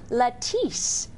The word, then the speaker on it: Latisse: here and we're going to be talking about Latisse is that how you say it that is